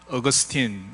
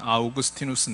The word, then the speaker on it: 아우구스티누스: 아프리카의 이제희 포의 죽였던 어거스틴 아우구스티누스 쓰 라틴 식으로 발음하면 은 아우구스티누스 인데 근데 제가 설계하는 동안의